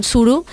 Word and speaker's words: Suro: para hacer surok que es corcho en catalán Tsuru es bien pronunciado equivalencia en lleida dirían Entonces está perfecto